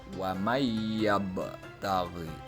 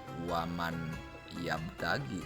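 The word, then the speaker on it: وَمَن يَبْتَغِ: Yang pertama adalah wa mayyabtaghi. Bukan waman yabtagi, tetapi huruf nun itu dimasukkan ke dalam huruf ya. Huruf nun dileburkan ke dalam huruf ya, sehingga cara membacanya wa mayyabtaghi.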